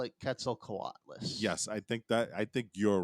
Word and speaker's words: Quetzalcoatlus: But AJ, you're going to finish the actual pronunciation. The Quetzalcoatlus. I mean, How do I you might say it? not even be right, but I call it Quetzalcoatlus.